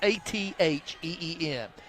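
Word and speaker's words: Acín: Now, Athene spells it, it's pronounced Atheen. It's spelled Acin.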